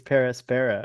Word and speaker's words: Per Aspera: It's Per Aspera.